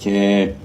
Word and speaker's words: แชร์: เข้า มา แล้ว กด แชร์ ขอ เมตตา นิ้ว น้อย ๆ นิ้ว เร็ว ๆ งาม ๆ ของ ท่าน กด ไป ที่ สระแอ ซอ ซ้าง รอ เลีย สระแอ ช้าง ร เรือ การัน อ่าน ว่า แชร์ แตะ เข้า ไป แล้ว